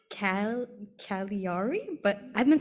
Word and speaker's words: Cagliari: whole time but I completely forgot how to pronounce it right but it's like Cal kaliari but I've been saying it cagliari but yeah that's where I'm going it's the